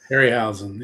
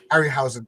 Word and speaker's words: Harryhausen: Harryhausen, yeah. Harryhausen.